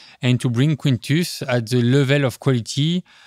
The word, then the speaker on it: Quintus: So Quintus was, am I saying it right? Quintus? Quintus, yes.